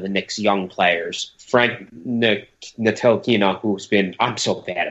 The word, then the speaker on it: Ntilikina: You don't even look at the T. Forget the T. It's a just think Neil E. Kina. That's it.